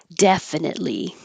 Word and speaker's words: definitely: car turned the corner definitely definitely you won't hear that T at all because your tongue's going